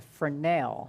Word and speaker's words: Fresnel: Steve's talking about the Fresnel. The Fresnel lens, Yes, right. and I yes. learned how to pronounce that from a video Yeah, don't call it Fresnel.